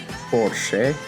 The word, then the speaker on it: Porsche: It's Porsche, not Porsche. Yes, it has two syllables.